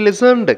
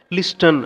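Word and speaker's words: listen: ஷீ லிசன்டு carefully, லிசன்டு அதை சொல்கிறப்ப D silent letter, அதனால் அதை ப்ரொனவுன்ஸ் பண்ணக்கூடாது. லிஸ்டன் அப்படின்லாம் சொல்லிடக்கூடாது, ராங்.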